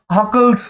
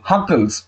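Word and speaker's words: Hückel: কোনটা অ্যারোমেটিক, সেটা হচ্ছে হাকেলস রুল। হাকেলস, অনেকে বলবে হাকেলস রুলস, বাট হাকেলস বলে কিছু হয় না, হাকেলস। আমাদের নাক দিয়ে উচ্চারণ করতে হয়, সেই জন্য বানানটা একটুখানি দেখে নেবে।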